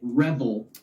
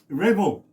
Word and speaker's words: Revel: Yeah, and I pronounce it Revel. Revel, okay.